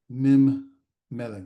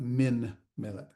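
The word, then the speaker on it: מִמֶּלֶךְ: Mim Melech, not Min Melech. And you make the sound of the letters that are present.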